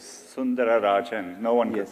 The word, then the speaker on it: Sundararajan: One of the things I read about you, it said Sundar Pichai is Sundarajan, right? To give you the whole name. It actually was Sundararajan.